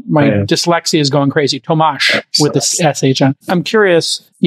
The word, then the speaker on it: Tomasz: Tomasz with an SH at the end. Yeah, ah, thanks, Tomasz. I knew I was doing it wrong, and my dyslexia is going crazy. Tomasz with the SH on.